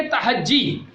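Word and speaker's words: تہجی: प्यारे बच्चों, आज जो टॉपिक है वो है हरूफे तहज्जी। क्या प्रोनाउंस है इसका? हरूफे तहज्जी। बात तहजी कहते हैं, बात क्या पढ़ते हैं? तहजी। तहजी नहीं, जीम पे तशदीद है।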